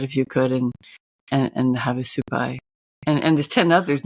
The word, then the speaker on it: Havasupai: indigenous people, like the Havasupai. Is that how you pronounce them? The Havasupai. Yep. Havasupai.